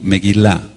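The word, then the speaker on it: מגילה: decir rollo o pergamino meguila meguila con acento en la en la fonética meguila m e g de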